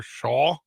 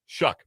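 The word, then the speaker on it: Shough: They're going to turn to Tyler Shaw. Shuck.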